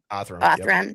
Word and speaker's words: Othram: It's connected to, am I pronouncing it correctly? Otham, that laboratory. Othram.